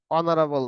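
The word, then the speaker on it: honorable: কি আছে হাবিব ইস অনারেবল ম্যান এখানে এইস এর উচ্চারণ হচ্ছে না এখানে এইস এর উচ্চারণ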